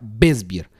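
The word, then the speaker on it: Weißbier: Cuando ustedes lean o escuchen la palabra beisbear, que se escribe como en español, tú la puedes ver como weisbier con w al principio, wesbier, pero se pronuncia wesbier.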